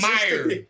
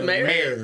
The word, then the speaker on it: Mayer: Or is it Meyer? Is it Meyer? John Meyer. Mayer. It's Mayer.